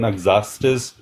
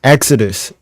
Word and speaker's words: Exodus: in the bible too if you can open exastus 23 hopefully open what exa sorry my English is not that good yeah Yeah.